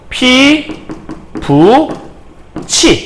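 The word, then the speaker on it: 피붙이: 그래서 피, 붓, 이가 되는 거는 티읕이 이 만났으니까 최종 발음은 피부 T가 됐다가 요 T가 뭐로 바뀌는 거냐면 피부 치 이렇게 바뀐 거라고 보시면 될 것 같아요.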